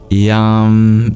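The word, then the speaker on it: yaṃ: amplifies the meaning but if you drop the a at the end and you make it an anusa rather than a Makara then yam is the be Mantra the seed syllable for the heart since all chakras have their own and as a be for the heart yam means actually this would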